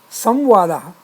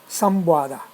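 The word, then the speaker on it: संवाद: written as anuswara and has samwada samuada not sambada and when written as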